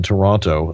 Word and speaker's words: Toronto: so or is the people in toronto say toronto toronto toronto that's right they they leave two they turn it into two syllables a two syllable yeah uh almost one